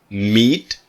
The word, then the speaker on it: meet: The pronunciation of meet is that EE is a long sound. Meet. But met is very short. So it's long and short. Meet, met. Meet, met. Got it?